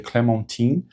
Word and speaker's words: Clementine: Na verdade a pronúncia correta seria Clementine, mas no filme ficou Adelle, né?